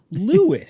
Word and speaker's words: Lewis: plays the captain and you pronounce her name lewis yeah crazy uh they